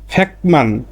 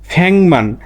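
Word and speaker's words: 백만: আবার আর একটা দেখেন, ফ্যাকমান। ফ্যাকমান মানে 10 লক্ষ। এই ফ্যাক মানে 100 আর মান মানে 10,000। যখন একসাথে 10 লক্ষ বলবেন বা লিখবেন তখন আপনাকে বলতে হবে কি? ফ্যাংমান।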